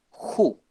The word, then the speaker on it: who: el siguiente hombre gouaches who se pronuncia con una jota ju y traduce quien por